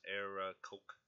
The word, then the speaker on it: Aarakocra: So it's Aarakocra.